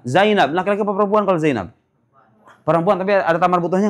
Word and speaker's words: Zainab: Karena ini menunjukkan perem enggak bisa dibaca Zainabi, dibacanya Zainaba kalau dia maj majrur.